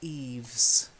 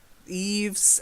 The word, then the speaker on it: eaves: pratik just the one word bower Yves Bower Yves yeah Yves I like them if you look at a